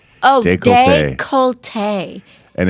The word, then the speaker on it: décolleté: It says you pronounce it décolleté. Oh, décolleté.